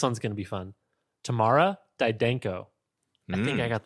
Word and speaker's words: Tamara: And then I was like, oh, it's like saying tomorrow, but Southern. Tamara.